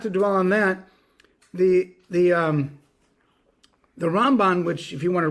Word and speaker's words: Ramban: That the Ramban gets the stress on the second syllable, and the Rambam gets the stress on the first syllable, so that you're not making a confusion.